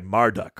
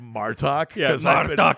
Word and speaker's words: Marduk: she gets supplanted by marduk who after after i keep trying not to say it i keep trying not to say it like martok because i've been watching so much ds9 lately um um like tiamat